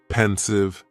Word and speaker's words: pensive: Next is pensive, and the pronunciation is very easy. Just 2 syllables, and the stress is on that first syllable. Pensive, pensive.